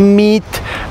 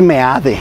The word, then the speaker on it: Meade: Meet, pendejos, lo están repitiendo ustedes la propaganda del gobierno, lo que es no tener cerebro a veces, de veras, les digo, es Meade, Meade, así es como se pronuncia.